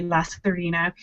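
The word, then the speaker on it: Lasairfhíona: name is lazarina um i'll put that spelling on the screen because it is a crazy spelling um to us who aren't irish but i love it i think it's so pretty la serena and uh yeah she's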